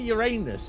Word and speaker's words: Uranus: know where to look it's pronounced Uranus Uranus not Uranus uh or Uranus bit like uran um but Uranus um but